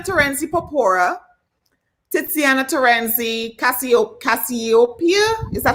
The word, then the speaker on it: Cassiopeia: i have titiana terenci papora titsiana terenzi cassio cassiopeia is that how you pronounce it yeah that's cassiopeia i have tatia torenzi tabit damn i had